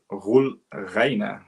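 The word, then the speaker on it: Roel Reiné: Directed by Roel Reijnen, as the Dutch way to pronounce it anyway.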